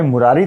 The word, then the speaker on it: मुरारी: इसलिए 'Ari' में छोटे 'i' का उच्चारण सही है, और यदि आप 'Ari' में लंबे 'ee' का उच्चारण करते हैं , तो यह स्त्रीलिंग बन जाता है।